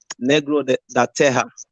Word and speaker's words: negro: first first of all that's that's pronounced negro and it's portuguese right and it means